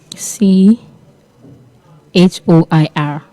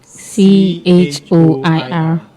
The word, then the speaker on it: choir: error buster and for today's word we have c h o i r let's take that again c h o i r now the word is pronounced choir and not choir and not even